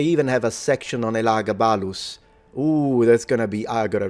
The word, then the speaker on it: Elagabalus: So in English you can say Elagabalus, but if you want to say it in classical Latin, it's Elagabalus with a retracted S.